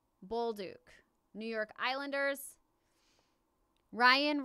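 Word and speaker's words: Bolduc: aves Samuel Bol oh somebody told me how to say this earlier and not was it youla buluk buluk Samuel buluk New York island ERS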